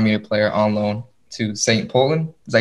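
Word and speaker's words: St. Pölten: He's an FC Bayern Munich player on loan to St. Poland.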